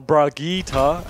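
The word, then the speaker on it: Brigitte: they're probably gonna have fault mods on the Bridget which they now do or Brigitta as its correctly pronounced reheat no it's rookie takes appreciate you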